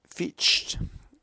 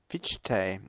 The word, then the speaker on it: Fichte: In 1794, his chair at Jena passed to Fichte, Fichte, Fichte, otherwise the Germans pronounce the E at the end of it, who had visited the